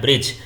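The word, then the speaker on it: bridge: यहां साइलेंट क्या है ब्रिज तो ब्रिज में हम ड को नहीं बोल रहे हैं तो डी यहां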